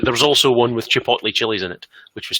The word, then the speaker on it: chipotle: There was also one with chipotle chilies in it, which was tasty. Chipotle. Is it? It's pronounced Chipotle.